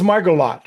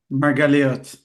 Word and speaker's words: Margaliot: Jay always gets me because I always pronounce his last name wrong. It's one of Try those it. like, French names with a guy that lives in Israel. So, And it's Margolot, right? Margolot. Margaliot. I see, even there. Close.